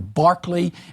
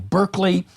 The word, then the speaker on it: Berkeley: You have the British philosopher Barkley and the American University Berkeley.